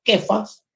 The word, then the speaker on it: Cefas: Le trajo Jesús y mirándole Jesús le dijo, tú eres Simón, hijo de Jonás, tú serás llamado Cefas, pronunciado Kefas, pero Juan agrega algo que traducido es Petros en griego.